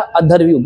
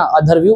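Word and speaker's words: अध्वर्यु: उच्चारण करने वाला अधर्वह गलत नहीं करना अधर्वव्यू उच्चारण करने वाला ब्राह्मण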